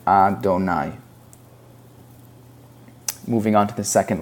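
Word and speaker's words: אֲדֹנָי: So instead of pronouncing it as it looks, that is just God's name, and we pronounce it Adonai.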